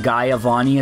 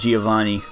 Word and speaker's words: Giovanni: I go fight Giovanni you've pronounced it guy avani as a kid I'm pretty sure it's Giovanni oh my God stop